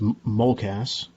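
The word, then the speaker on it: MOCAS: pentagon in 1958 a program that's called uh pronounced mulcas and uh it's still being used written in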